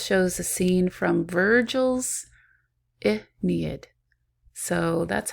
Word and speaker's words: Aeneid: The statue group of Laocoon and his sons shows a scene from Virgil's Aeneid. So that's how you pronounce that, Aeneid, Aeneid.